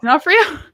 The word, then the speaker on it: D'Onofrio: I don't know how you pronounce that either. It's D'Onofrio.